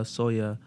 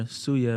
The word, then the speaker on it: suya: actually one of the so there's this thing called uh soya or suya might be more common pronunciation for like uh people who are not cameroonian but it's like very